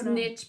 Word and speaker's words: niche: from Jim's stitching a niche niche because it rhymes with stitch but that could be